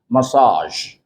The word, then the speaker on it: massage: a body massage because that's a French word and this particular word is borrowed from French into English and for that reason